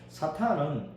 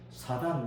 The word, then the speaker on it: 사탄: 번역을 해어 사이라 사이 아직도 아직도 사탄을 사단이라고 발음을 하는 분들이 많아요 그 빨리 고쳐 사단이 아닙니다 사 사단은 뭐 유나 불교에서 그런 용우가 있어요 그러니까 우리는 사탄이라고 해 사탄 사탄 히브리 발음 자체가 사탄이라 그 사탄이 사탄이 대적하는